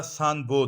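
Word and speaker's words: Sainte-Beuve: دا انګریزي کې چې د سپیلنګ دی نو دا دغه دی، خو چونکې دا نقاد چې کوم دا فرانسیسي و نو فرانس کې د دې نوم تلفظ دی سانبو.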